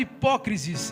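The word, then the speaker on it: ὑπόκρισις: A hipocrisia é um termo grego, pronunciado hipócrisis, e faz alusão a uma máscara.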